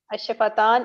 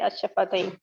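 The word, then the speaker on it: الشفتين: And the fourth one, which you said ash-shafatain, we pronounce it both ways. Ash-shafatan and ash-shafatain. Both are right. Okay. Both are correct.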